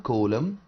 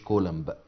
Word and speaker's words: coulomb: على فكرة coulomb ده اسم scientist، اسم عالم، will be silent ما بننطقهاش، بنقول coulomb، ما نقولش coulomb.